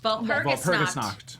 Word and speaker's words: Walpurgisnacht: The Walpurgisnacht. Walpurgisnacht.